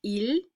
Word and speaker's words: ils: We have il and elle, and yes, I know they sound exactly like il and elle, but they're plural.